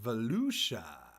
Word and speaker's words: Volusia: uh what I'm going to do it's it's pronounced Volusia I'm gonna post it again tomorrow um whoops